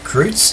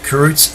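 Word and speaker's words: Kreutz: are carrots sun grazers k r e u t z kroots is that how you pronounce that cruz anyway they call them karoots sun grazers fragments from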